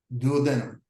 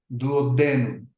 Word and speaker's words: duodenum: The name for the first part of the small intestine, duodenum, is often pronounced duodenum, also the pronunciation duo, denum, is also acceptable.